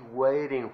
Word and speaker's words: waiting: What are they waiting for? Nótese que ahí la T de waiting suena como R, ¿ok?